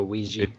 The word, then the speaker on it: Ouija: A Ouija. Ouija. Like Ouija board? Like a Ouija board, yeah.